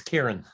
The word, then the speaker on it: Kieran: Yeah, it's Kieran, Irish name. Yes. Anything close will do.